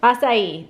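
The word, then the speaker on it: açaí: Acai, thank you.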